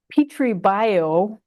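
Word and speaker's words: Pitribhyo: Petri is spelled Pitri, and Petri Bio is Petri plus Bhyo, and that's pronounced bio. The Okay. the H is sort of there, Bhyo, Petri Bio.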